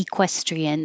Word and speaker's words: equestrian: manager same thing manager equestrian you can say uh or e or even e equestrian that's very perfect but it's not stress so it's more likely it will be e or uh equestrian equestrian oh I didn't put